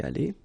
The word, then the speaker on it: allée: Phonetically, you don't hear it. It goes like aller, so exactly the same thing as here, or the same way. So, elle a été allée.